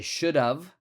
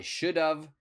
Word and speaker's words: should have: And so the pronunciation is very similar to of. So I should have stayed home. I should have stayed home.